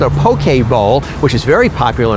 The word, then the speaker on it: poke: It's not pokey like Pokemon. Yeah, you got it right. Poke? Yes, it's a poke. Poke right way to, is the proper right way. Way to pronounce it is a poke bowl. Poke bowl. And the poke is a Hawaiian word.